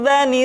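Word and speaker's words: ذ: Selanjutnya huruf za diucapkan dengan menyentuhkan ujung lidah dengan dinding dua gigi seri bagian atas seperti kita mengucapkan huruf tha.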